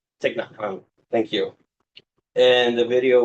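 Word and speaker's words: Thích Nhất Hạnh: I don't know how to say their name, but I think it's a Thich Nhat Hanh. Thich Nhat Hanh.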